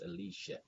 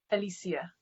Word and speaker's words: Aleighcia: Because I'm here in America, it doesn't pronounce Aleighcia. How do you pronounce it the right and proper way? Aleighcia. Aleighcia. Mm-hmm.